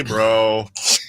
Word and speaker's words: bruh: Hey, bro. Text me your. Did you say bro or bruh? BRUH, but I pronounce it bro. Wait. You can't do it BRUH and pronounce it bruh.